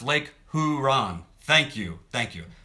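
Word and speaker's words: Lake Huron: the super fun program East Chicago IND it's pronounced Lake huran thank thank you thank you Lake huran um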